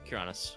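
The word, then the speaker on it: Cernunnos: Yes, Kyranos. Or Kyranos. It's a hard K.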